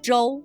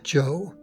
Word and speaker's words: zhou: like the English J so z h o u sounds much like the English name Joe historically Joe meant state